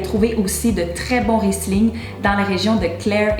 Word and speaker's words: Riesling: Que j'en voyais un dire Riesling. Je vous confirme qu'il n'y a pas de Z dans ce mot, on le prononce donc Riesling.